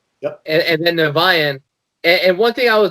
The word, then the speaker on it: Niviane: How do you pronounce it? IMAGIKA. Yep. And then NIVIANE.